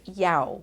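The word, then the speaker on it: ewe: do another Scrabble word the word is Yao which is spelled y-o-w-e which is a female sheep okay let's move on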